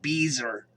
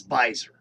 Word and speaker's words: Beiser: pronounce his name because it looks like beezer but it's not it's visor just so you guys that that's how i know if you're a telemarketer if you call me and say beezer ah got it so